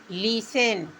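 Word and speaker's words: listen: एल आई एस टी ई एन लिसन लिसन means सुनना लिसन means सुनना तो T silent कब होगा अगर एस और टी एस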